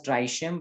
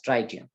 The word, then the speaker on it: tritium: as tritium isn't it some may call it as dry shim but better is to pronounce it as tritium so we are having